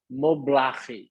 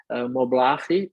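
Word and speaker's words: Moblaje: arquitetura de interiores chamada mobile se escreve m o b l a j e seria mobile com j A Mobile é a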